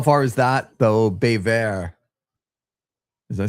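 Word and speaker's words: Baie Verte: How far is that though, Bévert? Does I say it right? Bayvert.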